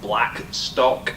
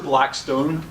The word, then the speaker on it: Blackstock: my name is Blackstock so you know said it correctly people come up and say I I say my name's Blackstock and they say hello Mr Blackstone I'm like is there